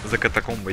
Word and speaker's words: За катакомбы: За катакомбы, именно так читается правильно.